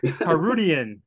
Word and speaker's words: Harootian: Harootian.